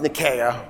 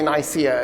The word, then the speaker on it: Nicaea: So Nicaea is pronounced Nicaea. I'm going to not say Nicaea again for the rest of the lecture.